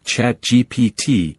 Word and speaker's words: ChatGPT: GPT is pronounced with the letters spelled out, GPT.